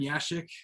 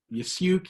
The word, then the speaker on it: Yashik: My name is Yashik. It's also pronounced Yasyuk, Yasyuk. There's tons of different pronunciations.